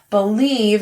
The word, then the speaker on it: believe: So, here you have believe as your verb, it's going to have the stress in that second syllable for two syllable words.